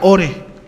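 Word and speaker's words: אור: la vida Sí entonces la palabra luz en hebreo es la palabra or y se pronuncia ore su significado básico es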